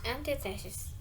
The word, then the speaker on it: antithesis: One of the word stress is antithesis. It's because stress is often on the third to last syllable.